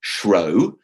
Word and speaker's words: shrew: be tamed so now the word true can be pronounced shro in order to secure the rhyme and the folio text